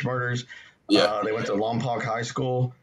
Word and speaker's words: Lompoc: yeah they went to lompoc high school i've also heard it pronounced along poke i think it's on poke high school and they skipped for